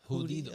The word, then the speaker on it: judío: Yeah, Judío.